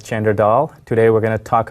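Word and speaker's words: Chander Dhall: I've enjoyed being here hello my name is chandertal commonly pronounced as Chandra Dahl today we're going to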